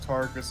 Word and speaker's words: Tarkus: I think it was Tarukas in the English dub, but it's like Tarkus. It's supposed to be like Tarkus, like the album and shit.